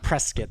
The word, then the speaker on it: Prescott: Verde Valley and Prescott.